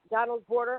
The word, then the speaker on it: Donald's Border: Is it Donald's border?